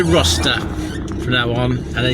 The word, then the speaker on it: Rocester: Boston to go to I keep say Rochester, but it's not that is it? It's probably let me say I can pronounce that. If if you know how to pronounce the following place, R O C E S T E R. Maybe it's Roster. That would make a bit more sense based on a similar spelled places.